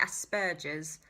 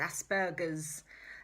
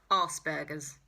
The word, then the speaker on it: Asperger's: Wing wouldn't be very happy with me about that, because it's Aspergers. It's a hard G. You have to think Aspergers, donkey burgers.